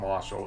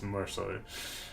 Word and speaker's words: Matt Mercer: It's not Marshall, it's Mercer.